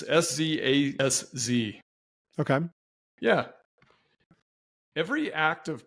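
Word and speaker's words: Szasz: I think I'm pronouncing his name correctly. It's Szaz.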